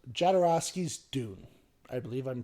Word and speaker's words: Jodorowsky: It's called Jodorowsky's Dune. I believe I'm pronouncing that name right.